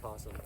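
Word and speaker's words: opossum: Is it pronounced opasum or is it pronounced possum? Is that where they how they say where you're from? Opasum. I don't know they pronounce it like that. I thought possum was like a different animal in a different part of the world and possums are in Australia but then we spell them o posesum here but I think the O is silent in most dialects of America.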